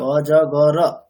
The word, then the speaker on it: অজগর: অজগর। বাংলাতে আমরা কিন্তু উচ্চারণটা করি অজগর, যদিও অকার আছে, কিন্তু আমাদের উচ্চারণ অনুযায়ী যদি সিলেবেল দেখি তাহলে কি দাঁড়াবে?